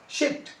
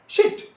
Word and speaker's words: sheet: तो शॉर्ट sound शिट और बिच। अगर इसी को हम लॉन्ग साउंड में कन्वर्ट करते हैं तो देखिए स्पेलिंग चेंज हो जाएगा, SHEET। क्या बोलेंगे आप? शिट। नो नो नो, शीट।